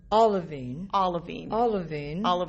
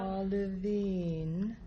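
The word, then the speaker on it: A'lavine: So the A, apostrophe A, sounds like an O. Olivine. That might help. I love that. Thank you. I'm going to write it phonetically. Yes, please do. Yep. Olivine.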